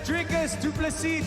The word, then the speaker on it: Dricus Du Plessis: I told you, I came here and spoke to you on my second fight, and I said, learn the name, it's Dricus Du Plessis, the S is silent.